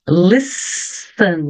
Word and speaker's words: listen: olhadinha então aqui na pronounciation Listen não pronuncio o t Listen do you think então